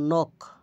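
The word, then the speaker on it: knock: Knife ছুরি নক করানারা আরো যেসব শব্দর শুরুতে কে এন বা জি এন থাকে সেখানে সাধারণত কে এবং জি এর উচ্চারণ হয় না। যেমন নক আঘাত করা বা করা।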